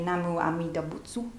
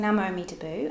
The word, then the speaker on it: Namu Amida Butsu: So in Japan they say Namu Amida Butsu, and we say, that was my terrible Japanese accent. More like Namu Amida Butsu, because the tsu disappears, so yeah.